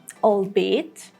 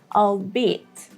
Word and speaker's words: albeit: The British pronunciation is albeit, albeit, and the American pronunciation is albeit, albeit, or you may hear albeit, albeit. The last T in American pronunciation is not pronounced that much.